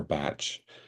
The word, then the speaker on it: Bach: Um, just a beautiful, beautiful man, Dr. Bach. Um, or Batch, you know, if you're if you're from the UK, that's probably how you would pronounce that.